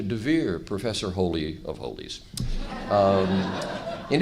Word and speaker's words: Dever: Now, my name, Dever, in Israel, unfortunately, is pronounced Dever, which means plague or pestilence. So I don't like it. I add a yud and change it to Dever, Professor Holy of Holies.